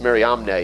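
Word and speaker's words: Mariamne: Aristobulus III and Miriam, it says Miriam, but Miriam Omnne is really the way you pronounce her name.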